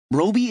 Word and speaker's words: Roby: Roby is pronounced so that it rhymes with Toby, just so you know.